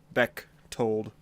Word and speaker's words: Bechtold: But for now on, I will simply be referred to as Bechtold. And it's kind of a weird name by spelling. The H is silent. It's pronounced Bechtold, but I guess in most cases all that really matters is.